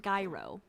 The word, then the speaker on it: gyro: tonight but yeah i think that's everyone it's pronounced gyro gyro jesus that's in greece listen